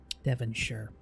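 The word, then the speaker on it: Devonshire: that you say that Deon sure perfect Tommy perfect perfect whenever you see Shire like this it's like 99% 99% of the time sure we to pronounce it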